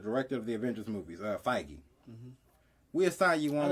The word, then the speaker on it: Feige: be like the director of the Avengers movies, Feige. We assign you I on. did not know that's how you pronounce his name.